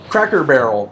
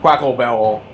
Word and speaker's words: Cracker Barrel: purpose, to the point that now I'm not mispronouncing on purpose. I just don't say it right anymore. Cracker Barrel. Our one friend, when he was a little kid, called it Quacklebell, and his family thought it was so cute